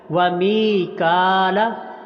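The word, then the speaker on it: ميكال: کو لمبا کریں گے۔ وجبریل ومیکال، توجہ سے میم کو لمبا کریں گے کیونکہ میم کے نیچے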